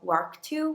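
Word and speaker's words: LRRK2: certain ethnic backgrounds these two genes are called larc2 which is spelled lrk2 and gba which is spelt gba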